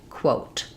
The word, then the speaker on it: quote: Let's look at how to pronounce coat and quote. So these are exactly the same except that the initial sound of quote has the w sound whereas coat just has the k sound.